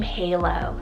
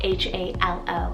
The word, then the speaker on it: Halo: night sky another option here is the name halo spell h-a-l-o halo i actually really love this for a